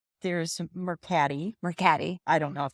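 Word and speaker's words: Mercari: Facebook Marketplace, not Marketti, starts with an M. There's Mercati. Mercati. I don't know if that's how you pronounce it. Well, it's not Marketti.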